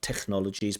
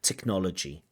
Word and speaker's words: technology: have the sound so not Technologies but technology with a hard c c technology technology education course they